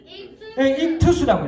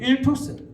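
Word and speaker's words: ΙΧΘΥΣ: 자, 물고기를 뭐라고 읽어요? 익투스라고 해요. 익투스. 그 당시 헬라 말로 여러분 익투스라고 읽는데 자, 이 익투스라고 하는 단어예요.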